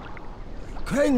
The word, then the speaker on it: Crane: Crane rhymes with train and brain and sane.